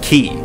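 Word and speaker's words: χ: The letter X represents the Greek symbol for Kai, which in the Kingdom Heart series is pronounced as key.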